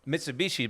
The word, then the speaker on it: Mitsubishi: What are you supposed to say? I'm just curious. No, that is how you say it. But a lot of times they pronounce stuff different. Mitsubishi, my cousin.